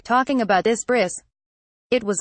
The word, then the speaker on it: bris: I was I did not know what a bris was and I decided to pronounce it Bri bris has pre so I did the whole monologue about my bris or like talking about this bris it was like a drama and then at